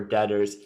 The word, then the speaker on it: debtors: can drop the okay and then uh the letter b is silent okay yeah sometimes my